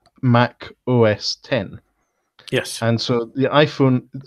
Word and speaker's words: Mac OS X: like their operating system Mac OS X is actually supposed to be pronounced Mac OS 10 yes and so the